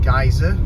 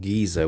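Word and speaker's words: Geysir: of heading from tectonic plates and Thingamir to Geyser, we're actually going on to Gullfoss. And the reason for that is pizza. Delicious. The second stop on the Golden Tour is the town called Geyser, which in Icelandic means to gush.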